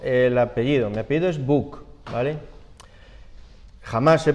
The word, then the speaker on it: Buch: Mi apellido es Buch, ¿vale? Jamás se pronuncia bien, o sea, no forma parte en fin, de mi historia y de mi cruz personal. Buch, que es un apellido, no sé si es